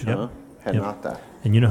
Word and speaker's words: Renata: You write it Renata, but you pronounce it Renata because she's from Renata. Brazil. Oh, the R is like a H, Yep. huh? Yep. Renata.